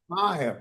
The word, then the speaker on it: Meyer: Meyer. Pronounced No, Meyer. Meyer. Meyer? Meyer, please. Okay. M-E-Y-E-R. Meyer. It's a German word.